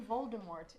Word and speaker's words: Voldemort: and final statements yes the T in Voldemort is silent Michael Jackson wanted to